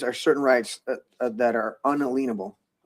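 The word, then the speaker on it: unalienable: So unalenable, but that I make a long I make a very strong point of saying unalenable.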